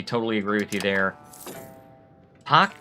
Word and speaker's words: Park: Pock being spelled like park.